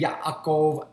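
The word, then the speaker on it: יעקב: does that's what a Yaakov does yeah a cold it's the way you would pronounce Jacob in Hebrew yeah a goal yeah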